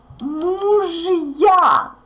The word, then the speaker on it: мужья: Мужья. Муж. Is always hard. So even if we have a soft sign there, we pronounce it hard. The soft sign doesn't influence j. It just separates these letters.